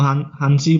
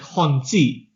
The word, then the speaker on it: Hanzi: I pronounce it like Honzi. I say like Cantonese Z, but it's spelled out Hanzi, so it's spelled out like Mandarin. Yeah, so it's spelled out Hanzi, but I pronounce the second bit with like the Z, like in Cantonese.